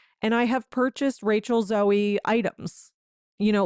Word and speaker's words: Zoe: Okay, I just looked it up and Google says the correct pronunciation is Zoey, such as the Greek word for life.